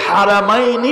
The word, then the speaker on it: হারাম: আবার খানায় কাবাকে হারাম বলে, মসজিদে নববীকে হারাম বলে, দুইটাকে বলে হারামাইনি শরীফাইন। তাহলে ওই যে আপনারা হেরেম বলেন, হেরেমটা আসলে শুদ্ধ না, এটা গলদে সহি, এটা ভুল উচ্চারণটা গলদ, আসলে হবে হারাম।